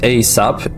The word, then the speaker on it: ASAP: ASAP, pronounced ASAP, an acronym of as soon as possible.